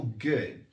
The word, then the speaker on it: good: O D em inglês, nessas expressões, ele é meio mudinho, mas ele é pronunciado bem leve. É tipo good, good. Bem pequenininho. Não é bolinha de gude, igual a gente costuma falar aqui no Brasil, certo?